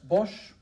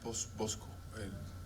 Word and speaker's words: Bosch: It's like a Hieronymus Bosch painting, this Hieronymus Bosch. I think it's how you pronounce it. Bosco.